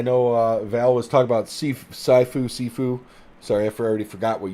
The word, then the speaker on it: Sifu: Sifu or Saifu, I don't know exactly how it's pronounced. Sifu, thank you.